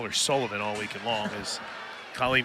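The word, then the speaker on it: Kulivan: Sounds like Sullivan, spelled k u l i v a n. So, that means I'm going to call her Sullivan all weekend long as Colleen fouls that one off.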